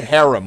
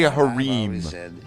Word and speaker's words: harem: You know, that's why I say harem. Why do people say harem or harem? No substitute for experience. Why? It's harem.